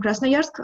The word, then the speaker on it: Krasnoyarsk: I'm sorry, I just want to make sure he's from Krasnoyarsk, that Yes.